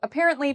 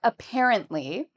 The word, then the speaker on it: apparently: So for apparently, the second syllable is what we say with emphasis. So, it's the part we say louder and longer.